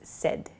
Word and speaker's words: said: Said is not correct, so please use said. It sounds like S-E-D, the pronunciation, but it's said.